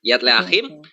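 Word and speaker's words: Yad L'Achim: Jadi dia mengaku kepada organisasi Yad Leachim ya bacanya gitu ya, Yad Leachim, dan juga kepada salah satu dari rabi-rabinya.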